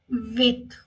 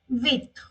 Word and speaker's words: huit: H is silent. Quarante huit. Quarante huit.